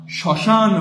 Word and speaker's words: শ্মশান: হচ্ছে উত্তর হবে না শ্মশান বানানের মধ্যে আমরা মফলা দিয়েছি কিন্তু উচ্চারণ করিনি শ্মশান বানানের মধ্যে আমরা ম ফলা দিয়েছি কিন্তু উচ্চারণ করিনি।